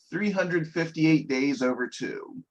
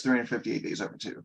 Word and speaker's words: 358/2 Days: So now we're going fully into Kingdom Hearts 358 Days Over 2. Okay. Which is how it is pronounced. It's spelled like 358/2 days. Yeah. But it's 358 Days Over 2.